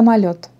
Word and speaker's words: Mayotte: ça mayotte ce à mayotte d'accord sur le dernier parce qu'il ya eu il ya toujours l'accent sur est la dernière syllabe donc c'est mayotte toujours ok à petit